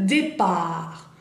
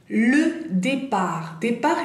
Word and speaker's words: départ: Le départ, départ es la partida, por ejemplo, en un aeropuerto, le départ o départ, y la hora o el vuelo, bien. Le départ, ahí, importante, T final no la pronunciamos, bueno, tenemos E accent